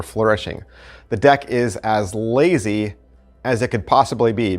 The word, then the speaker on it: LZY: they are called the lazy deck now it's actually spelled l z y l z y but the a is silent non-existent it's called a lazy